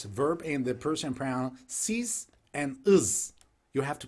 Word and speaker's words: siz: Yes, verb and the person pronoun siz and is.